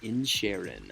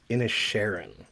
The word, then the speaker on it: Inisherin: today we're talking about 2022s the banshees of in Sharon which is directed by Martin McDonough and is